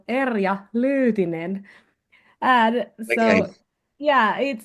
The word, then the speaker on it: Erja Lyytinen: So I will say it in Finnish. It would go Erja Lyytinen.